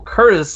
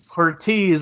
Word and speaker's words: Curtiz: Michael Curtiz. I always say it wrong. I do. Mom said say it how it's spelled, and I did, and I was wrong.